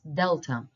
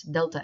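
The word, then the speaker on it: δέλτα: It's what English uses the word delta, they pronounce it as delta, delta, like the airlines, Delta Airlines. But again, it's wrong. It's the romanization of the Greek word, so the correct one is delta.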